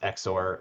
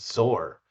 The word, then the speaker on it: Xor: And then I had a nice person who was in my game say, "Oh, by the way, that's not pronounced Exor, that's pronounced Zor."